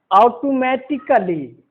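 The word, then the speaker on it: automatically: उच्चारण पर ध्यान देंगे, उसको हम बोल रहे हैं ऑटोमेटिकली।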